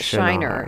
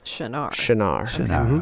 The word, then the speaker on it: Shinar: it s-h-i-n-a-r okay and it's not Shiner it's Chennai okay so it's a